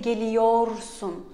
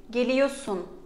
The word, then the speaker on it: geliyorsun: But other than ben and biz, we write again, but we do not pronounce. For example, geliyorsun. Do not say geliyorsun. Geliyorsun.